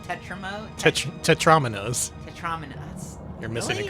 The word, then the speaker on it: tetromino: Fred Flintstone has gone nuts, and there are Tetramones going everywhere, destroying the world. Tetramones? Tetra whatevers. What are they called? Tetramo? Tetrominoes.